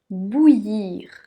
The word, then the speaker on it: bouillir: pâtes tu as besoin de faire bouillir l'eau bouillir bout lire ici comme on a vu le y et les deux elle se prononce mieux lire bout ir bouillir dans une phrase mais de l'eau à bouillir